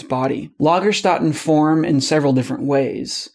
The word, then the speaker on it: Lagerstätten: I don't speak German, so I'm actually pronouncing it wrong. If you want to say it right, you say it like this. Lagerstätten.